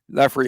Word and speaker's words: Lafreniere: And Lafreniere, is that how you say his name? Lafreniere.